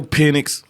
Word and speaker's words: Penix: Make Make him one-dimensional and make Michael Penix.